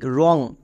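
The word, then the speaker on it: wrong: ডব্লু আর ও এন জি, রং।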